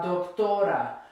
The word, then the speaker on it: doctora: Separated by syllables. So la doctora, doctora, it ends in a vowel, so it's the second to last syllable that gets stressed.